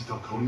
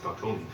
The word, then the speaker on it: Falcone: I don't even know why they even pronounced the E in it. I'm so used to Gotham that I'm used to the E being silent.